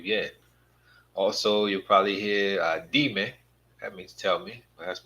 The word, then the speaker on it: dime: in here, it's not dime. We have to get used to pronouncing things in Spanish. Get our brain to thinking in Spanish, and it makes that easier. It's not dime. It's dime.